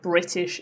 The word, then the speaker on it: British: Um, I just said British English cuz I was pronouncing it correctly. But if I was speaking to a friend, I would have said British English. Okay. British. There's no T there, right? British. British. That's how I would normally speak, but I'm using my teacher voice at the moment, so I'm pronouncing my T's.